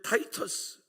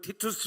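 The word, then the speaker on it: Titus: 베스파시안 장군이 그의 아들 타이터스이 발음을 티투스 하는 분들도 있는데 뭐 외국어 발음이이 타이토스 데리고 예루살렘을 치러 옵니다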